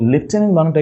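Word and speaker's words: lieutenant: এই ট্রিক্সে পড়ছি তো লেফটেন্টটা কিন্তু কোন এফ নেই বাট উচ্চারণের লেফটেন্ট এই বানানটার ক্ষেত্রে জাস্ট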